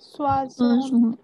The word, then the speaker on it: soixante: we have Sir, how we pronounce 60? Soixante. Soissons. Bolo Soissons. Soixante. Swazon.